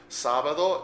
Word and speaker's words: sábado: Sábado is Saturday. S-A-B-A-D-O. Notice the accent on the first syllable.